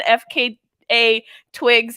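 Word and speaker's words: FKA twigs: out about shia labeouf f k a twigs yes shia labeouf [ __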